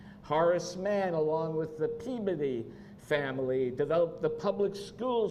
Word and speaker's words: Peabody: in Boston and I I once said Peabody and like I got everybody like no it's Peabody so I learned that so not something I would have known just phonetically Reverend uh Theodore Parker